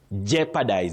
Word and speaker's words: jeopardize: That O in those words is silent not pronounced. So you say jeopardy. Jeopardy. Jeopardy. Mhm. Jeopardize.